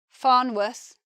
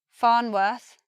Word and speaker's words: Farnworth: Worth becomes 2 pronunciations, either worth, similar to muth, or worth, but not a long just a worth. Tamworth, Farnworth, Bedworth. First pronunciation, worth. Second pronunciation now, Tamworth, Farnworth, Bedworth. Slightly different.